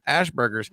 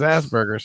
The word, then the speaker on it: Asperger's: it wrong, and I'm like, "Oh, not Asperger's, Ashburgers." And then when I say Ashburgers, people are like, "You're a dumbass." It's Asperger's.